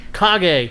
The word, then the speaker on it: Kage: Well, how about you don't cage me, Greg?